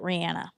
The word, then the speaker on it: Rihanna: yeah, who says Rihanna? Rihanna says it Rihanna. So her name is Rihanna. Oh. Okay, I'll adjust. But people are stuck in their ways. Yeah, I like Rihanna better than Rihanna.